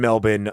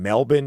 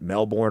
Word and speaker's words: Melbourne: It's not Melbourne or Melbourne. It's Melbour just for what it's worth. I don't know. So the R is silent.